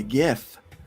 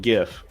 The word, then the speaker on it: GIF: of people by saying GIF. Just wanted to throw that out there. Well, I don't care. It's not. If it was GIF, it'd be spelled with a J.